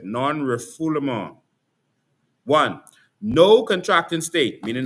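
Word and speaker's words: non-refoulement: Non rifful. That's how you pronounce it. Non rifful.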